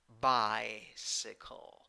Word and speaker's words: bicycle: Then 7 letters, 7 sounds, 3 syllables. The first syllable is the stressed syllable, and you have I with a hat in the first syllable. That is I. A in the second syllable, and in the third syllable. Bicycle, bicycle, bicycle.